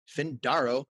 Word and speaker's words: Findaro: Eric Van Horn here with today's guest, Findaro.